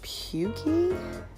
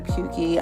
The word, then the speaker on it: pukey: I'm using here is called pukey I think that's how you pronounce a PU K ey and the next shade